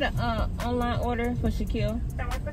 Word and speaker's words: Shaquille: they act like they don't know how to pronounce my name it's Shaquille then I got to spell it out for